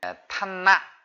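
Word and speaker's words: ឋានៈ: 자, 한번 보면 직책 이 말을 탄나 이렇게 읽어요. 그죠? 탄나. 목을 쥐어짜듯, 말레이 산스크리터 목을 쥐어짜듯 이렇게 이렇게 짧게 목을 꽉 쥐어짜면서 발음을 해줘야 되는 거죠.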